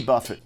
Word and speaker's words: Buffett: Jimmy Buffett. Yep. It's pronounced Buffet.